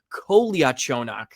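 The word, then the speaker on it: Kolyachonok: So, it's Kolia Chonak.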